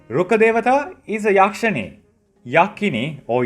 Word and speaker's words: Rukkadewata: If I slow it down, you can say it as Rkkadevata. Rkkadevata. Rkkadevata. It's similar to how when you write Tha Romaji for Japanese, it's pronounced as Tha. So even if it's Rkkadevata, we say it as Rkkadevata, which means tree god.